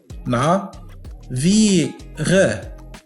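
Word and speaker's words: navire: تتكون من 3 مقاطع. نا، نعم، في، غ، نا في غ، نافيغ، نعم، نافيغ، وتعني باخرة، أي مركب كبير أو باخرة أو سفينة، نافيغ.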